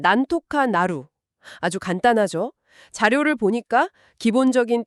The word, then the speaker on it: なんとかなる: 발음은 난토카 나루.